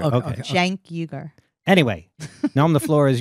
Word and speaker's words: Cenk Uygur: I'm getting the correct pronunciation of that guy's name. Cenk Uygur. Okay. Cenk Uygur.